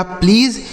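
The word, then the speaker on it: please: और किसी भी शब्द के लास्ट में अगर इ रहता है तो उसे हम नहीं पढ़ते हैं। तो यह लिखा प्लीज।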